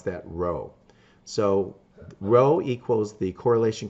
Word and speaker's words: rho: the Greek symbol here and we would we pronounce that Rho so Rho equals the correlation coefficient between the